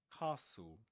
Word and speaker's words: castle: Castle. We don't pronounce the t nor the e the end. We say castle.